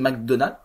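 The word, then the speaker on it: McDonagh: of inituring film de Martin McDonald on prononce pas le GH puisque irlandais voilà plus récentcoup de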